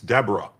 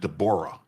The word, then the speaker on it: Deborah: Maryland US District Judge Dborah Boardman, and you might think it's Deborah, but she pronounces it Dborah.